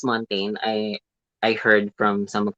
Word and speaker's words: Montagne: Montan or Montagne, I or think it's how do you it's pronounce her last I name? think it's Montaigne. It's Montaigne. I heard from some of the videos. It's not Montan because it's so social to pronounce.